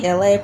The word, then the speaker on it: Elay: What's up, it's me, Elay, pronounced like LA like the city.